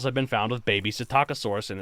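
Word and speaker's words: Psittacosaurus: has a a baby sitakasaurus that's it yeah yeah it's the taco the p is silent like pterosaur right okay it means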